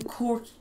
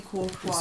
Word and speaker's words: Courtois: If you've never heard it before, would you say it like, Courtois. How do you know it'd be Courtois? I've never heard it. It's done, that's how you say his name.